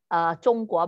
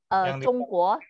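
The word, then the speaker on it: 中国: Tulisnya sama, cuman Sama. lafal yang beda ya. Betul. Kalau bahasa daerah itu tapi tulisannya tetap sama, cuma bunyinya jadi Zhongguo, tapi bahasa Hokkian itu Tiongkok.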